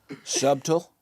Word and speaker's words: subtle: Just, subtle, which I guess in subtle, the B is more subtle than I am saying it right now.